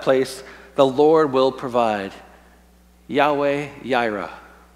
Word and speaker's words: Yahweh Jireh: the Lord will provide Yahweh Jireh some people call it Jehovah Jireh but that would be a mispronunciation and to this day